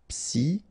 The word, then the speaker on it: psychologique: Normally we should pronounce it sho, okay, but in that case we pronounce it ko. Psychologique.